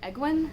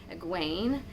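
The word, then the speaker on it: Egwene: for the first time aguain which can kind of sound like gwen or gwenevere as well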